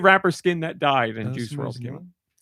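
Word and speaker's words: Juice WRLD: I typed in Fortnite rapper skin that died and Juice World came. Juicew World was his name. Not spelled like you would think it would be spelled.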